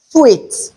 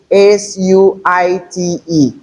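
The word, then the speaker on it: suite: Another homophones we have here is sweet. Look at the spelling. S-U-I-T-E. It's not suit.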